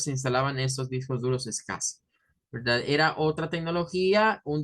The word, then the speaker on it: SCSI: llamaban verdad discos duros es casi esto scsi se pronunciaba como es casi es casi se llamaban